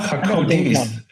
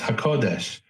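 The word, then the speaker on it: הקודש: But when we see Ruach HaKodis with a samach, nobody could say HaKodis is an insult. He just doesn't know how to pronounce HaKodesh, or he doesn't know how to distinguish.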